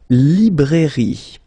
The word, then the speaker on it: librairie: Then, la librairie. Okay, remember, I here, li. Librairie, final E, not pronounced.